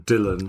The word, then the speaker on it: Dylan: So he actually insisted on an English pronunciation, Dylan.